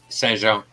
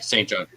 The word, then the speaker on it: Saint John: Yeah, Curbs in Saint Jean. Oh, sorry, Saint John.